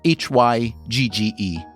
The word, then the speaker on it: hygge: One theory involves a word that is spelled h y g g e.